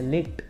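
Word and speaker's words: Licht: Video शुरू करने से मैं पहले ही बता दूं कि इस एनिमे का जो मेन कैरेक्टर है लिट, उसका प्रोनाउंसिएशन मैंने गलती से लिचिट कर दिया है, तो उसके लिए मुझे माफ़ कर देना।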